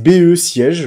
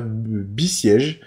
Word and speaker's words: Besiege: C'est BE siège, voilà, Besiege.